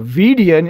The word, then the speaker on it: Vidian: the vidian canal so v i d i a n is median m e d i a n median it rhymes so vdn is median always remember